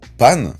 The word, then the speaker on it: Pan: de Goku en fait pan donc le nom de sa petite fille en japonais s'écrit et se prononce exactement de la même façon que le pain et en japonais lorsque